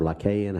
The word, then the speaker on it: Lycaon: The king, for those who don't know, King Lycan was, or Lycaon, however you want to pronounce it, it's depending on where you're standing in the world is how you pronounce stuff. But I pronounce it King Lycan because I'm a ignorant old hick.